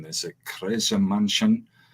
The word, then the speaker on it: Kreischer: And first impression, I'm probably going to butcher the pronunciation. There's a Kreischer Mansion. Kreischer.